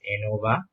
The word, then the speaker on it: ANOVA: Analysis of variance, or we usually pronounce it as ANOVA, is a collection of statistical models and their